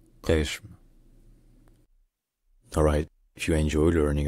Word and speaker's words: Qeshm: In Persian, the name of the island is pronounced Qeshm. The Q sound is like a G sound, as in game, but deeper in the throat. So it's Qeshm. Qeshm. Qeshm.